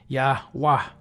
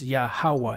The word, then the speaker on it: Yahawah: an Arabic transcription of the name which is pronounced yahwah this is close but it's not because it's yahawa and we're going to show you that matter of fact oh and this is or Yahweh see so even with these so-called Scholars in